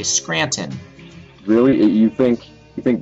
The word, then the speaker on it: Scranton: me I can't stand when people butcher the word Scranton there's a t in it yeah and everybody you